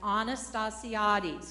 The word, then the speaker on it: Anastasiadis: In case you didn't get that, it's Anastasiades, because I say it wrong sometimes, but I said it right tonight.